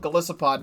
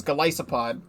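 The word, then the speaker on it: Golisopod: it's called glycopod I used to call it galicipod but apparently in the official pronunciation is glycipod uh but this Pokemon go themed cards and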